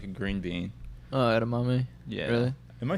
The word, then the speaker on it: edamame: Oh, edamame?